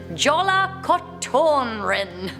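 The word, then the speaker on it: Jólakötturinn: We have the legend of, correct my pronunciation, Jola Kotorin.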